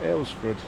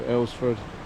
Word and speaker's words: Alresford: Just asked one of the locals how you correctly pronounce the name of this town, and the locals call it Alresford. It's River Arl, so Alresford, so take what you will from that, but there's an awful lot of history in this little town.